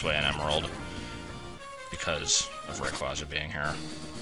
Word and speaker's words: Rayquaza: You only have to go this way in Emerald because of Rayquaza being here. It's pronounced Rayquaza, but that sounds so weird.